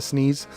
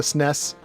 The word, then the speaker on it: SNES: It's kind of like the SNES. Some people call it the sneeze or the SNES.